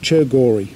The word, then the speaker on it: Tsergo Ri: is the ascent of serger real pronounced chair Gauri by the local people the ascent in route